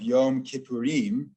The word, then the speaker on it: Yom Kippurim: The meaning of Yom Kippurim is a day like Purim, Kimo Purim. So just to explain the Hebrew there, the Yom Kippur in the alternate Hebrew pronunciation is Yom Kippurim.